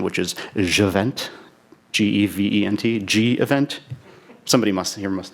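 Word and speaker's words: gevent: but um I'll go with the most impossible pronounciation which is adjuvant gev ent G event somebody must have here most now what's the canonical pronunciation G event okay not a sh event okay so today I'd like it to hate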